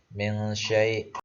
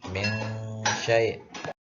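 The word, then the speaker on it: مِن شَيْء: Contohnya nun mati bertemu shin. Misalnya contoh dibaca min syai', ya, min syai'.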